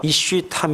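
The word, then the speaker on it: איש תם: 소개를 하는데 이 말은 히브리 말로 이슈 탐 이미 이렇게 발음합니다 타미 라고 하는 말은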